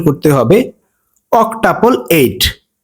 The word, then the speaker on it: অক্টাপল: tuple seven যদি আটটা আর্ট একসাথে থাকে সেটার প্রোনাউন্সিয়েশন করতে হবে অক্টাপল এইট ও সি অক টি ইউ পিএল অক্টাপল